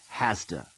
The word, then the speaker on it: has to: a listen and practice notice how have to is pronounced CAFTA and has to is pronounced hasta one we don't have